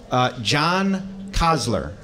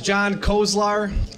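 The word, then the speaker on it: Kozlar: John Kozler, did I pronounce that right? No, I didn't. There'll be a test. So hi everybody, my name is John Kolzar.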